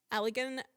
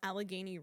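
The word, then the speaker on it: Allegheny: I don't think that's how that's pronounced. We say this. How do I say this? Alagany. Alagany. Alagany River. You couldn't pronounce AlaGany?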